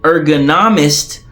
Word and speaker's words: ergonomist: working environment more specifically an ergonomist pronounced like Economist designs or modifies the